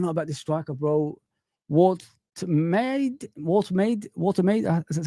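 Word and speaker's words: Woltemade: Watermaid.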